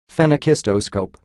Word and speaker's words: phenakistoscope: it's a very annoying word and it is pronounced phenakistoscope fenyo scope pistos scope yeah print packaging the